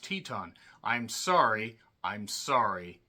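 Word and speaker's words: Titán: accuse me of that it's Titan but it's spelled or it's pronounced Teton I'm sorry I'm sorry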